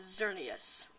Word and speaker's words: Xerneas: we cannot call him xerneas so that is xerneas i believe that's how you say it xerneas